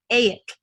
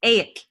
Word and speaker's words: Egill: Like my friend whose name was Egill, but you pronounced it Aik. His name is Aik, and an Icelander would be like, "That's not how you say it."